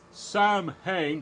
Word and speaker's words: Samhain: The name Samhain, S-A-M-H-A-I-N. It's Samhain, but it's pronounced Samhain. It's the Celtic word for Halloween.